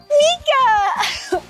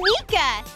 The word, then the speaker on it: Meekah: you spell my name with me awesome let's spell it in the pool okay ready m-e-e-k-a-h mika well thank you so much for having a